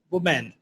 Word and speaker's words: woman: Woman. Very good. Because a lot of Indian people say women. They pronounce the W as a V.